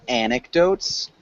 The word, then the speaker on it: anecdotes: good and you repeat anecdotes an anec anecdotes anecdotes yeah anecdotes yeah and so we emphasize the first syllable so anecdotes aneco good